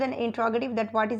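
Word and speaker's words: interrogative: और क्वेश्चन है कि कुछ लोग जो हैं वो इंट्रोगेटिव की जो उनकी एब्रीवेशन होती है या उनकी जो प्रोनाउंसिएशन होती है वो इसको इंटेरोगेटिव बोलते हैं। सो मेरी जो यहाँ पे प्रोनाउंसिएशन है वो इंट्रोगेटिव है। सो I also prefer here इंट्रोगेटिव।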